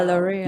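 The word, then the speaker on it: L'Oréal: Is that how you pronounce it? Yeah, L'Oreal.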